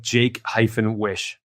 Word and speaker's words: Jaquish: Yeah, the phonetic way to pronounce that is like Jake-wish.